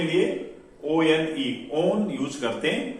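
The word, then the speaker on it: -one: तो एल्डिहाइड के लिए एल अल और कीटोन के लिए ONE ओन यूज करते हैं। जैसे वो देखने में 1 लग रहा है बट यहां पर इसको 1 नहीं बल्कि हम इसका प्रोनाउंसिएशन ओन है।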